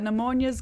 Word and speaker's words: pneumonia: All I know is that pneumonia's got a silent P at the start of it, like it's really cool, and I'm like, whatever, pneumonia.